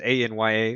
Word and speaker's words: Anya: I think I pronounced that right. Anya. It's Anya.